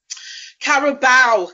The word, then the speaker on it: Carabao: Carabao Cup is what it's Carabao.